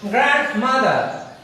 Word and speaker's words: grandmother: grand, GRA, এখানে কিছুটা জোর দিয়ে এটাকে বলতে হয় grandmother, grandmother.